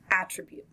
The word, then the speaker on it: attribute: This is actually a noun and a verb, and they have different pronunciations. We are going to start with the noun, attribute.